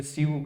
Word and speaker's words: sue: कोई स्यू कहता है, कोई सू कहता है, कोई क्या कहता है।